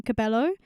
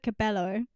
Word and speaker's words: Cabello: I think I said her name wrong. Cabello? What did I say? Yeah, I Love It by Camila Cabello.